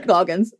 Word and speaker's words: Walton Goggins: Walton Goggles. Goggins, I think, but I like Goggles better. So funny. I like got the first one down finally and then just totally butchered the second name. Yeah, exactly. Walton Goggins.